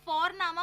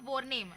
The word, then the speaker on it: Vorname: और हम यहाँ पे फोरनामा प्रोनाउंस करते हैं बट लिखते हैं उसको VORNAME। ओके, तो वो हम इंग्लिश के अनुसार प्रोनाउंस करेंगे तो बनेगा वॉरनेम, बट नो, इट्स फोरनामा।